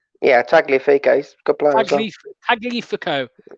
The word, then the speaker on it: Tagliafico: Tagliafico. Is that right? Yeah, Tagliafico.